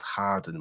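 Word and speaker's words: Hawarden: going why is Andrew saying Hardon when he's actually talking about a place in Flinch called Harden which is spelled h a w a rde n so it's not Hardon I wasn't him yeah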